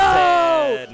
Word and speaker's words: Zain: You were saying Zain on commentary. I heard. We were saying Zain on commentary. Yeah, that is the real pronunciation of mine.